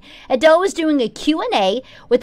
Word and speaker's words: Adele: It's not Adele, it's Adele.